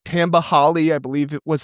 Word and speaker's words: Tamba Hali: Guys like Tamba Hali, I believe it was how you pronounce his name, back in 2006 at Penn State, he developed him.